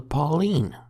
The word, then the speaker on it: poleyn: And the bit that protects your knee is called a pauline, like a girl's name.